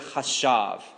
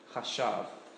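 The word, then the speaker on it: חשב: So if you are taking notes, it's chet, and then a sheen, and then a beit. A beit, yes. I'm not sure. Good question. Chashav. And you would, you would pronounce that like C-H-A-S-H-A-V. Something like that.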